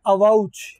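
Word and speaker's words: avouch: agree to अवा उच इसको बोलते हैं अवा उच उच्चारण इसका होता है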